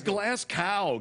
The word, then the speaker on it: Glasgow: It's glass cow. Give me a break. Everybody knows that.